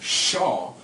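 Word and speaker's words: שָׁוְא: That word is Shua, or the Strong's Concordance says it's pronounced Shaw, Shinwal Aleph.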